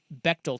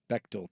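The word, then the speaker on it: Bechdel: So, she said, "Go look at something called the Bectal test." Have you ever heard of the Beal test? Bectal test.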